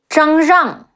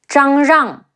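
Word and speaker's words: 张让: Ai, Cai, Bo Cai, Zhang Rang, Zhi Ang, Zhang, Zhe Ang, Rang, Zhang Rang.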